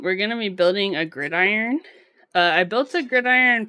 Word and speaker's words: Gridiron: I just realized it's pronounced Gridiron yeah it's pronounced grid